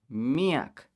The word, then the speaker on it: miyak: means many me some some forms some varieties will say miek it's almost the same pronunciation but that's the differences miak means a lot